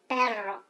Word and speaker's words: perro: Perro. We're not saying it in Hebrew here. Come on. Yeah, perro. So you roll the R like I can roll the R really good. Perro.